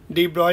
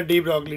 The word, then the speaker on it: de Broglie: clue formula आपको पता होना चाहिए डीब्रॉय का डी ब्रॉय या डी ब्रोगली डी ब्रोगली we call it but correct pronunciation is डी ब्रॉय important topic questions are